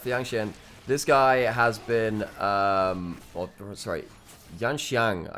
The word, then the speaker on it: Yanxiang: It should be Xiang. Look, Yanxiang? okay, so I need to really brush up my pronunciation of them. So when it's normally the IAN, it's N instead of An, which is a little bit of a different pronunciation.